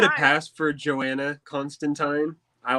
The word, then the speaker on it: Constantine: That's how I pronounce it the give whole it a time. pass for Joanna Constantine. I like that, but it's John Constantine.